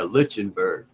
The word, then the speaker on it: Lichtenberg: effect I think that's how you say it lichenberg yeah Lichtenberg effect and As Above So Below um the